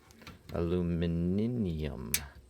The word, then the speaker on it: aluminium: Aluminium. Did you know that aluminum is spelt and said differently in the UK than it is in the USA?